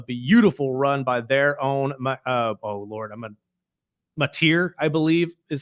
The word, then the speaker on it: Mateer: But the Oklahoma Sooners were able to pull it off at the end with a beautiful run by their own, Mateer, I believe is how you pronounce his last name.